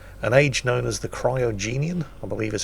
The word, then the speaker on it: Cryogenian: period, which featured an age known as the Cryogenian, I believe is how you pronounce it, which is basically the most severe ice age that Earth has ever known.